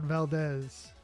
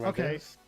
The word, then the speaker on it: Valdez: a th I mean in that particular it would be more like an S in Spanish.